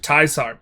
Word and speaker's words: Caesar: So, it's really Project Teaser and if you're a person of culture who knows how to pronounce words, Project Taisar.